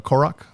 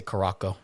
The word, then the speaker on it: Korok: dude like I've played how did you pronounce that is the korok there you go I thought I heard you say karako I did but it's